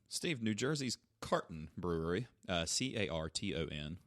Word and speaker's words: Carton: Steve, New Jersey's Carton Brewery, Carton, like Carlton with no L, honors Neil Peart with lime-lighted Canadian lager and it's pronounced Peart.